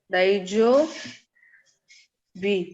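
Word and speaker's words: 大丈夫: de सर ऊ pronounce नहीं करेंगे ना नहीं ऊ नहीं प्रोनाउंस होगा. वो इसलिए तो लॉन्ग दाइजो हो गया वो. हाँ दाइजो. दाइजो बी बु.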